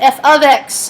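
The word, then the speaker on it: f(x): how that works and how it's pronounced f of X not X times X and what that means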